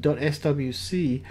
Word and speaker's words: SWC: use the compiled binary the swc or swick as it's pronounced file which is a